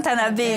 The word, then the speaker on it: Tanaber: Oui, je prononce bien? Non. Si. Le Grand Tanabé.